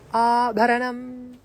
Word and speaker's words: Abharanam: So you have a long A at the beginning, A, the jaw drops, and then Bakara. There's a little bit of a puff in your heart and in your solar plexus.